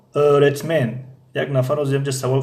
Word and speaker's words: öğretmen: اما در اینجا öğretmen این yumuşak G تقریبا تلفظ نمی شود öğretmen خب burası neresi